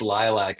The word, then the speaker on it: Lylvc: bio that it it's lilac pronounced lilac and the V is actually an upside down A and I learned a